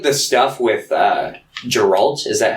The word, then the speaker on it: Geralt: yeah i'd say like the stuff with uh geralt is that how you pronounce his name it's geralt okay i'd say like his stuff in the